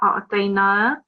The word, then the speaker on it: أعطينا: So try this verse again, and this was already corrected, but have 2 seconds elongation on a'tayna.